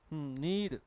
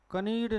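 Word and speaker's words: knead: एक होता है आपका नीड लुगदी बनाना होता है कि नहीं भाई आटा कतना लुगदी बनाना नीड कनीर नहीं है क्या है नीड आज फिर क्या लिखा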